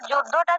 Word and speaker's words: যুদ্ধ: এভাবে ক্ষা এভাবে দাদা যুদ্ধটা যদি আরেকটু উচ্চারণ করে দিতেন যুদ্ধ যুদ্ধের উচ্চারণটা হবে যোদ্ধা যোদ্ধা ইউ যোদ্ধা হ্যাঁ যুদ্ধ